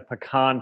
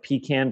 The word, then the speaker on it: pecan: of filling like in a pecan pie or pecan pie depending on how you say it uh that could add